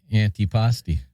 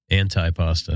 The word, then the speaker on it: antipasti: Yeah, like antipasti. Anti-pasta. Anti-pasta. Chris, I'll never forgive you for that. Somebody we were talking to, he actually thought that was the pronunciation.